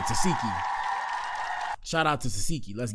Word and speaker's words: Tesehki: That's how you say her name, Tesehki.